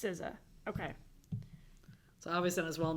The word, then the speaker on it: SZA: I'm looking it up. Sorry. SZA. It's pronounced SZA.